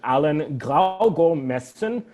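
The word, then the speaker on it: Allan Gravgaard Madsen: Oh gosh, there's this incredible Danish composer named I'm going to pronounce it in Danish, Allan Graugaard-Madsen, which no one can spell here.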